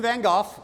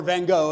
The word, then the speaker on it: Van Gogh: Vincent Van Go or Van Gogh if you want to say it wrong.